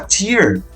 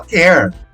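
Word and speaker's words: tear: Se você quer falar lágrima, você tem que falar tier. Se você quer falar rasgar, você tem que falar ter. Então, esse é outro problema.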